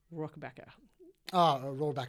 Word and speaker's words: Rohrabacher: Rohrabacher.